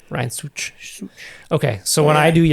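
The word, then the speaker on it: Szűcs: And it's got like two little things above the U because it makes the U sound like two O's.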